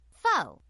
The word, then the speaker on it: faux: The word f aux is pronounced fo as in phony.